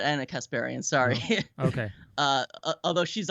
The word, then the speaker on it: Kasparian: something because P random no it's not Ana Kasparian sorry here okay although she's also an Anna